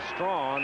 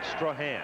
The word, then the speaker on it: Strahan: Wait, I was calling him Strong. I can name 5 other people who spell their name the same way and pronounce it Strong, but he, in his case, he calls it Strahan.